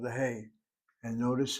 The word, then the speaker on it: He: alphabet is called the hey letter. Hey letter sounds like your English exclamation as in hey you has nothing to do with hey you at all.